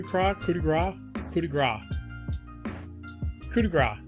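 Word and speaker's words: coup de grâce: couti coup de gras coup de grace that's how you say it all right yeah four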